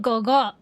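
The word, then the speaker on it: 哥哥: game in Chinese, MC calls Caleb Gogo, which is spelled Gege.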